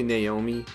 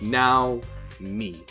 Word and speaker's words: Naomi: quick to notice please please do not say naomi naomi is not the japanese pronunciation of nami it's like if you speak English and 0 w Emmy like now me it's like the way to say it and